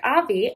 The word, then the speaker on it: Avi: clip I was like, Avi, I don't know if I'm pronouncing that correctly. Can confirm I was pronouncing it correctly. Full name is Aviel, so I was getting that right.